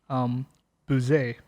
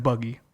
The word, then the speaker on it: Bugey: So it's pronounced Bugey, right? Bugey-Cerdon, but it looks like buggy or bouguet, right?